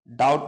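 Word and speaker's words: doubt: कह सकते हो कि बी कभी भी अगर टी से पहले आता है तो साइलेंट रहता है जैसे यहां पर आप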